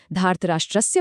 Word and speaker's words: धार्तराष्ट्रस्य: धार्तराष्ट्रस्य बोलते हुए अपनी जीभ को थोड़ा पीछे मोड़कर मूर्धन्य श का उच्चारण करना है।